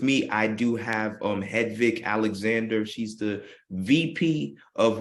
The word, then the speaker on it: Hedvig: provided them with tools and access to financing hedvik welcome to the show and I hope I pronounced your name correctly you do yes thank